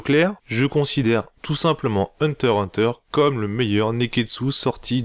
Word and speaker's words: Hunter x Hunter: reprendre la critique de hunter hunter alors déjà on dit en tas donc en fait le x ne se prononcent pas mais voilà avec ma